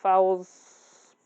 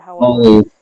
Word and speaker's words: Follies: It's Escape to Amphibia and Fowl's Parade or whatever. Follies. Follies? Oh, I didn't know that's how it was spelled. Follies? Yep. I have no idea. Yeah. Okay, I kept pronouncing it Fowls, but okay.